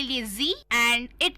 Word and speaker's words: Sie: हाँ, और दोस्तों उसको हम लिखते हैं SIE, तो वी डू not pronounce it एज साई, बट वो सी है, जी है, जी सिनेमा वाला जी है।